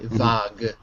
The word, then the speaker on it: vague: Because if it's a French word like vague, right, vague, then we probably will retain the French pronunciation.